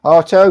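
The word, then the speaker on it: Artaud: Artto. Yes. Like uh toe.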